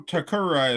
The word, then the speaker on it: Tokura: irene to the show to kururi is how you say your last name right yeah okay so this show